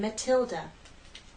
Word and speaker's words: Matilda: the difference we have a true te in Matilda Matilda T Matilda we have the flap te